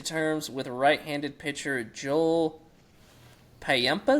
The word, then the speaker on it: Payamps: The Braves agreed to terms with right-handed pitcher Joel Payampas. Is that how you say it? Payamps? Come on, man. Payamps.